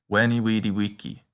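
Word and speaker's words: vici: and remember also that the letter v is pronounced like a w it's wiki the rest of the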